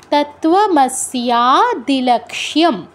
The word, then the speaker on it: তত্ত্বমস্যাদিলক্ষ্যম: কি হচ্ছে দ্বিতীয় লাইনে, দ্বন্দ্বাতীতম গগনসদৃশম তত্ত্ব, তয় তো সংযুক্ত যুগ ওকার আছে, তো আমরা উচ্চারণটা কীরকম করবো, তত্ত্বমস্যাদিলক্ষ্যম।